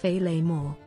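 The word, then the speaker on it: féileadh mòr: great kilt or filomister in scottish gaelic pronounced feyley moore the top half of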